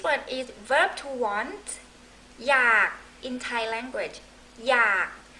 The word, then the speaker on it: อยาก: is verb to want อยาก in Thai language อยาก R sound low tone you have K in your throat อยาก you don't really